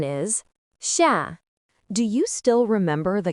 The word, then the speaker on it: 下: Its pronunciation is xia.